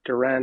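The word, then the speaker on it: Duren: getting Jalen Darren uh there are Duran I believe is the correct pronunciation um on draft night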